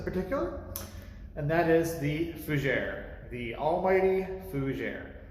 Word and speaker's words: fougère: no it's not a fooser it's not a fugiri or a fuguer it's a fujere now even my pronunciation is probably incorrect because you know the